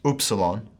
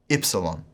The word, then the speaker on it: upsilon: The Erasmian pronunciation treats this like the U sound in book, book, O. The modern pronunciation system, however, treats it like ita and yota, with an I sound, as in spit, or petite, I, I. So the systems have quite different pronunciations for this letter also. It's known as upsilon or ypsilon.